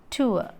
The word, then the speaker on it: tour: കാരണം correct pronunciation ഇങ്ങനെയാണ്, ടൂർ, tour. So O and U stands for the glide over, over, and R is silent over there.